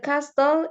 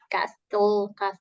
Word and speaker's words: castle: Bacanya bukan castle, tapi castle. Castle. The Castle. castle is slightly bigger than the hotel. Ya, The castle. the castle. Jadi T-nya itu silence ya.